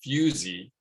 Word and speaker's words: FUSEE: safety ethics and ecology our acronym is pronounced fusey because fusees are the handheld torches that wildland firefighters carry around in their packs for